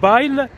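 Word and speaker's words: bail: واخا تكتب كتكتب بايل بيل بي ا اي ال، ولكن تنطق باي.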